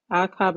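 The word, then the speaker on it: אחאב: Yeah, Akhab is how you pronounce it.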